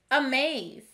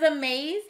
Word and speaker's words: amaze: is our last word amaze does a maze have the swa sound at the beginning or end of the word a maze has the